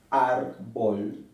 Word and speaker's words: árbol: llevan tilde por ejemplo árbol la palabra árbol se acentúa en la penúltima sílaba árbol y lleva tilde aquí